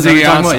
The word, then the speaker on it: Ziggy Ansah: With Asena, I can't pronounce his last name, with Detroit. Ziggy Ansah? Ziggy Ansah, thank you.